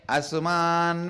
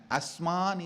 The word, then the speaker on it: Asuman: Subhataraye Asuman Vishwani. Understand? Asman is the original verse. The Padabedam is Asuman.